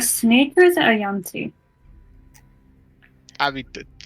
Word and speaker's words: yuan-ti: Is it a snake or is it a yanti?